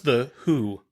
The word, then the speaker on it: The Who: No, the ticket I bought said it was Megadeth, and the opener was the Who, not the WHO. The Who. It's not pronounced that way.